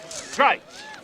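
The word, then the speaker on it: Gritz: well tomorrow right G R I T Z strikes rhymes with whites I want to speak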